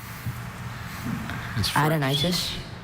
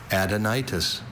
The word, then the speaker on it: adenitis: Any concern about the schwa was cured when he knew that root for gland.